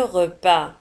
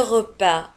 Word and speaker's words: repas: Le repas. Un repas. ولاحظوا على أن repas نجد في نهاية الكلمة S ولا تنطق. لا نقول repas.